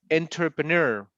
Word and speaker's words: entrepreneur: lot of questions about entrepreneur. How is that pronunciation? Let me see. Lorena, what is it? It's N. enter entrepreneur. Yeah, it's like a da da da da. At the end is like ner.